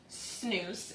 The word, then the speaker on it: snus: So the next one is snus. It's actually spelled S-N-U-S, but it's pronounced snus.